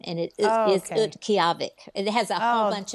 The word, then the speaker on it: Utqiagvik: The pronunciation of the name of the community now is Utqiagvik.